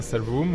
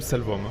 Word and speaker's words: Salvum: Oui, vous pouvez prononcer à la latine Salvum ou Salvum.